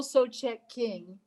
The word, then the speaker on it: Sochek: I'm going to tell you, it is Sochek King.